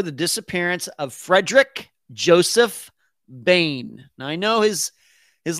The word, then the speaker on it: Boehm: disappearance of frederick joseph bain now i know his his last name is spelled b-o-e-h-m but um his last name is pronounced bane as in b-a-n-e as in the villain in the dark narc